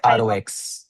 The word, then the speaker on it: HYROX: Time अपनी जो हाइरॉक्स right, that's how you pronounce हाइरॉक्स।